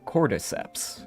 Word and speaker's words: cordyceps: Sometimes it looks like cordyceps.